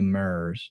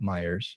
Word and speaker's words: Myers: I'm supposed to say it right. Myers, not Myers. Myers.